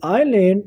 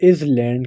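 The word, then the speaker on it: island: seven है हमारा इन आईलैंड which alphabet इज silent अब बहुत ज्यादा लोग इसे इज लैंड कहते हैं लेकिन ये इज लैंड नहीं है आईलैंड है जिसमें एस आइलैंड है तो हमारा जो करेक्ट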